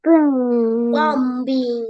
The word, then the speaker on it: bombing: Bombing. Bombing. Yes, bombing. B-nya silent.